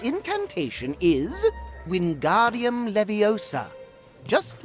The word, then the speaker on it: Wingardium Leviosa: fly its incantation is wingardium leviosa just like this Wingardium Leviosa pay attention to your pronunciation it's Wingardium Leviosa remember make the gar nice and long also the wrist